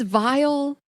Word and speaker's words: Viall: Please welcome to the show, Nick Viall. Ladies, so good to be with you. Back again. You know, it took too long. It's Viall.